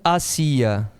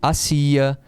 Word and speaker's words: hacía: É acentuado, a pronúncia é diferente. Aqui eu pronuncio hacía, aqui é hacia, a preposição é hacia. O verbo aqui é hacía.